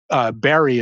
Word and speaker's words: Barre: Um, Barry is the way they pronounce Barre.